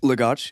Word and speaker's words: Lagos: Lagos.